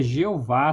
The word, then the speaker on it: Jeová: Aí você tem a a os dois HS que não tem sons em português também ele é cortado. Então você tem a pronúncia Jeová sem os dois H.